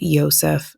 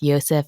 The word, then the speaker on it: Josef: It seems like it depends on if you're overseas or if you're in the US. So, we're going to try and keep it as close to origins as possible. And we think it's pronounced Yseph and Elizabeth.